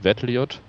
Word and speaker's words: VEDLIoT: that we are working on we call it vettelite so that's how we pronounce it uh it's about combining iot with